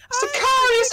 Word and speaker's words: Sicarius: Is it pronounced Sicarius or Sicarius? Sicarius!